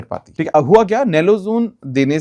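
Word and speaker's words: naloxone: एन ए एल ओ एक्स ओ एन ई। इसको सही से यही प्रोनाउंस करते हैं तो नेलोजोन।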